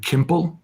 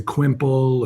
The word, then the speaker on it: Qimple: right, but quickly found that nobody could pronounce. People would say quimple, or it sounds like pimple, just all these kind of little hits at the name every day.